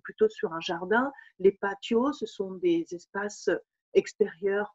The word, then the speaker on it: patio: El patio, alors nous en France, on a tendance à dire le patio, hein, mais le T en espagnol se prononce toujours T, donc el patio.